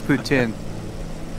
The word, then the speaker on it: poutine: Well, I don't know how to pronounce it on that French. It's not mayo, it's gravy. Yeah, it's poutine.